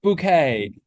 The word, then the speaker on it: Bucket: being more posa so her name is bucket but she says pronounced bouquet yeah and my mom